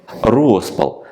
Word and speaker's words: розпал: чего не будь а Зате є розпал запам'ятайте правильний наголос стан найвищого напруження найповніший